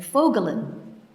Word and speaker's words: Voegelin: Among them, a relatively late interest of Latour's, is the Austrian-American political theorist Erich Vogelin. That's spelled, for those of you, it's not a household name, Voegelin.